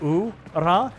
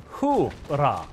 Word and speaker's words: hurrah: So actually, it's not what it sounds like ooh-rah. It's actually hoo-rah with the H.